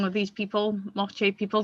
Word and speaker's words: Moche: So today, I said the name wrong of these people, Moche people. The reason I didn't say mocha is because it wasn't spelt like mocha is in the coffee.